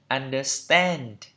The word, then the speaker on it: understand: Còn trong Anh Mỹ là understand. Đấy, hơi thiên về âm E nhá. Understand. Understand. Trọng âm tiết thứ 3 đây.